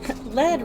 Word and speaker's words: lead: Lead rhymes with red, but not with read or lead.